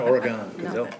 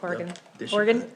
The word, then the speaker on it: Oregon: to have to learn how to pronounce Oregon the way they pronounce it though not Oregon orgon oron they'll know you're a